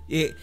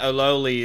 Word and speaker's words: Olali: Yeah, I double-checked. It is Olali. Olali. I think, yeah, there's a pronunciation on his Twitter. Alright. Yeah. I need to find it. Well, I've been saying it wrong this whole time.